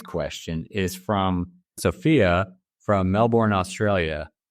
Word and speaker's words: Melbourne: is from sopia from Melbourne Australia or I guess Melbourne is how I have to say that I I have a friend from Australia that that taught me the proper way to say Melvin Sophia's question is I